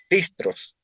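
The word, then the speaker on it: Χριστός: gistros, la palabra gistros, la X, y se pronuncia como una J, no se pronuncia como C, es gistros en griego, gistros, JR, JRI, gistros.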